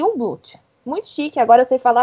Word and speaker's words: Jungblut: Se escreve Jungblut, só que não se fala pronunciar o J, né? O I no lugar do J, e não pronuncia o G. Então fica aí um Blut.